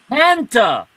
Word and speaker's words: Hanta: Hanta, like in Fanta, but with an H. Like in Fanta. Yeah. You like wanna Hanta? Don't you wanna want some Hanta?